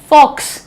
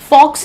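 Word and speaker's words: faux: अगला देखो, फॉक्स। फॉक्स नहीं है ये, दिस इज फॉ, right. What is the pronunciation? फॉ।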